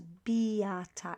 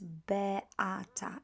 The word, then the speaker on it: Beata: Remember not to pronounce it as Beata. It's Beata in Polish.